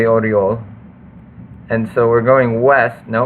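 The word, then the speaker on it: Орёл: Yeah, I mean, except it doesn't have the, it's not, yeah, it's technically here it's Orel, but that's not how it would be pronounced. So pretty comfortable in saying it is actually Oriol.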